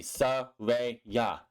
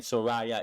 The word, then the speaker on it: Saraya: It's real easy. Saraya. How hard is that? Saraya. Where's Raya? I don't get why people saying Soraya. It's Saraya. Dumb.